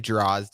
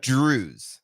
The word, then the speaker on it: Drozd: I would say Drozd is the way people mispronounce it. Right? It's not Drozd. What? Give the correct pronunciation of your name. The technical, according to my dad, it's Drews.